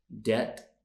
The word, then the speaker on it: debt: okay they are Island debt knee subtle knife thumb known ballet and mortgage did you get all of those correct so we have a silent s a silent b a silent k okay that is it